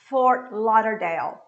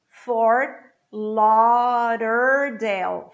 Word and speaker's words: Fort Lauderdale: Fort, cut the T. Lau. Every time you have a word with A, U, palavra com A, U, você vai pronunciar com som de O, O. Lauder. Esse D vira um R brando, como se eu falasse irá, ra, arara. Fort Lauderdale. And the word finishes in L.